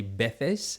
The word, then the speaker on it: veces: In Spanish, Spain Spanish, they would say veces. So the V kind of becomes a B, and the C becomes a th. A veces. But in South America, they would say a veces.